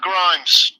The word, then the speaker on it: Grimes: Grimes. Rhymes with crimes.